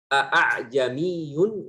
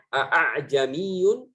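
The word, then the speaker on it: أَأَعْجَمِيٌّ: Tetapi hamzah yang kedua ini kita membacanya, yang merah ini kita membacanya dengan ishal. Fayalfidhuha al-qari'u bainal hamzah al-muhaqqaqah wal alif. Artinya qari itu membacanya dengan antara hamzah dan antara alif. Ya. Aslinya a'jamiyun. Yang kalau kita mengishalkan hamzah yang kedua, bagaimana caranya? Tidak jelas. Kalau jelas artinya salah. Jadi harus disamarkan.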